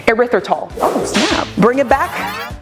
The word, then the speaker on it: erythritol: sucralose or erythema can't even how do you pronounce it erythritol erythritol oh snap bring it back so you can